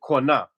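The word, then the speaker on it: קנה: How do you say buy, to purchase in Hebrew when you read Deuteronomy 28:68? Hmm. It's actually kwana.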